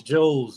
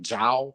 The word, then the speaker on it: JOW: And it's Joe's, man. And so the a lot of people just like Joe was most people was like Jow, you know, they kept saying Jow because the way it's spelled, J-O-W.